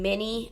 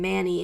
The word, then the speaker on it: Many: weird pronouncing that name it feels like I'm saying mini as in mi n i but no I'm saying Manny so I have to say like Manny even though the word